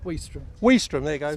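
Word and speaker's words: Ouistreham: very well because I've been calling it Quist ham so how' you say it w wam there you go W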